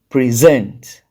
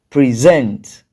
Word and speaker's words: present: then for rule two two syllabic verbs and prepositions are usually stressed on the second syllable when you say two